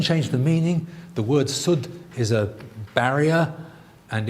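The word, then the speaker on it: سد: The word sud is a barrier, and it could be pronounced as said or sud, and they're dictionary-wise exactly the same.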